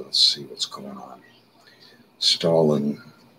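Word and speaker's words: Stahelin: Stalin is a name of a, it's spelled like Stalin, Joseph Stalin, but S-T-A-H-E-L-I-N, makes the following remark.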